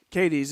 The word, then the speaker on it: Cadiz: Cadiz. I've heard it both ways. Cadiz is the correct pronunciation. I know that for a fact.